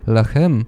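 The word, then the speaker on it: لحم: буханець тіста і зерна на івриті слово лехем означає печени хліб тоді Як арабською яка довший час залишалася мовою скутарів лахем - те саме слово але з дещо іншою вимовою означає м'ясо в перспективі Ісуса Христа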